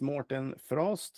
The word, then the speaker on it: Mårten Frosth: Yeah, my name is Morten Frost, and you did a very good job at pronunciation of my name.